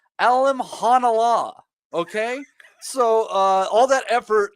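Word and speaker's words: Alimkhanuly: And it turns out his name is pronounced Alim Hanala, okay? So all that effort that we put in trying to say Alim Kanuli, you did.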